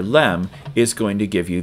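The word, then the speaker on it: لام: do that here and it's pronounced la la la la la like that the frontal LM hardly ever the rear the uh back of your throat LM so if we draw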